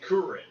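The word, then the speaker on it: Kuririn: Because just like Krillin's name is spelled like Kurirn. But his name is actually Kurin. Yeah. But we call him Krillin.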